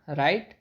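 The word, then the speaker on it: write: watch washed washed लिखना राइट road रिटन इसमें W silent होता है लिखने के लिए जो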